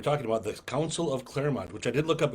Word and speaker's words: Clermont: By, Is it pronounced Clermont? I think it's Clermont. It's Clermont. Welcome to Clermont.